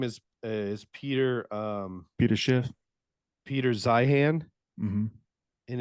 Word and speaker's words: Zeihan: Oh, Zion.